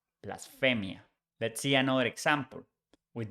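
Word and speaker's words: blasfemia: We change Y for IA, blasphemy becomes blasphemia. This is another good trick in pronunciation. When you see PH in English, it becomes F in Spanish. The pronunciation is the same, but spelling is different.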